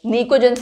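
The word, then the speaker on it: pnictogens: ये P आपका silent है, निकोजेंस आप बोलते हो।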